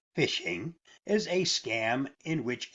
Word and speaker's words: phishing: its most basic form phishing pronounced fishing is a scam in